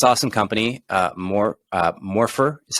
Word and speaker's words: Morpher: you're running this awesome company uh more uh morpher is how you pronounce it um this seems like a path